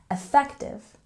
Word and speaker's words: effective: here again at pronunciation with a stress on the second syllable effective effective and our last